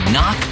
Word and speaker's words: knock: And a silent K is also the first letter in knock over.